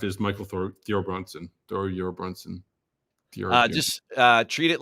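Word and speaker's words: Thorbjørn: all their names and they just say it like there's no J so thoron thornson that's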